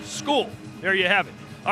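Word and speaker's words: Scull: And yes, it may look like it's spelled or it's spelled skull, but it's pronounced skull.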